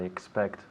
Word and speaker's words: expect: So we have to be careful with the pronunciation. Expect, right? Can you say that again? Expect, right? So I have to hear that C, expect, the X and the C, expect, okay?